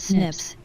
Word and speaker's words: SNP: single nucleotide polymorphisms and snv's pronounced snips and they represent one